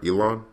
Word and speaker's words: Elan: When you created Elon, am I pronouncing you right? Elon?